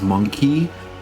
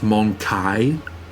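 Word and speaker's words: Mon-keigh: Keep forgetting that this game has it pronounced as monkey, because a lot of people say it's pronounced monkai.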